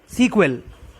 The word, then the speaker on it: SQL: SQL pronounced as सीक्वल. SQL को सीक्वल बोलते हैं, जो कि इंग्लिश लैंग्वेज का वर्ड है.